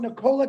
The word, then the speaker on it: Nikola: You're talking about Nikolai Tesla. No, it's Nikola, actually, if you pronounce it correctly.